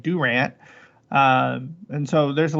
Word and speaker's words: Durant: we have miami and we don't have durant we have durant uh and so there's